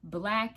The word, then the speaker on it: BLK: Black is spelled BLK, and it's a little ghetto, but it be some cuties on there.